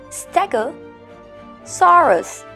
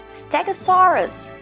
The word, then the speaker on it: stegosaurus: brain it is hervivore repeat with me stego soros stegosaurus next one is a large